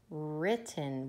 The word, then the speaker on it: written: definitely silent w ring what about written would it be well written or just written yeah that has a silent W we don't say well written we say all of my work has been ripped in silent W now this